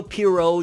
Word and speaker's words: Pierrot: So kudos to the Boruto anime, kudos to Studio Pierrot. Yes, I'm saying Pierrot from now on, not Period anymore. I've said Period for 10 years. We're going with the actual pronunciation.